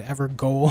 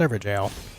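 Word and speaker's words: Evergaol: do it without it didn't know how to pronounce it I always said ever go when I first played yep me too actually I learned that it's pronounced ever jail all right I might get stabbed in the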